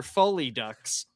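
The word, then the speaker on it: Folie à Deux: like the movie Joker Foley Ducks. Okay. Ducks. In my defense, I didn't know that was a French pronunciation.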